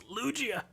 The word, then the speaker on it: Lugia: It's Lugia. Lugia. Lugia. I actually put it there in the middle.